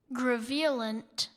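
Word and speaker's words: graveolent: Gravulent.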